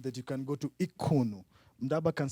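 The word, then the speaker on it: Qunu: you to imagine that you can go to Ikunu. Ndaba can say it correctly. Ekunu.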